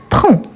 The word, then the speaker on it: prend: identique il elle on prend pas de s à la fin et on finit avec le D qu'on ne le prononce pas nous prénom pas des